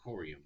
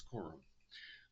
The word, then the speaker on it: Quorum: A lot of people pronounce it Corium, but it's Quorum. Like Quorum. Anyway, I digress.